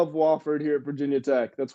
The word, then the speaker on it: Wofford: believe that's wofford yeah it is wofford it's not wooford did i say wilfred